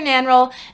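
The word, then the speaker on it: Nannerl: and they call her nan roll they call her nanrel and they call wolfgang wolf roll and thank god that i read the audiobook because without the german pronunciation of this i was gonna have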